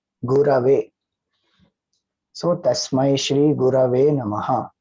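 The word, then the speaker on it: गुरवे: chanting as Tasmai Shri Guru Ve Namaha. So that is a wrong pronunciation because it is Gu Ra Ve, not Guru Ve. Gurave.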